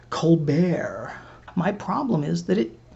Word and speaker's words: Colbert: pronounce their own name which is why a lawyer here in Tulsa can advertise on TV under the name Kolbert while the pretentious comedian on national TV can pronounce it colbert my problem is that